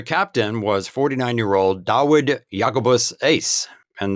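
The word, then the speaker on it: Uys: The captain was 49-year-old Dawood Jacobus Ace, and that last name is spelt U-Y-S, interestingly.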